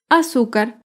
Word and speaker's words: azúcar: ejemplo la palabra azúcar azúcar es una palabra grave y se acentúa en la penúltima sílaba azúcar las palabras graves